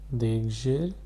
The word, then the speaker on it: d'exercice: This is pronounced as d'exercice.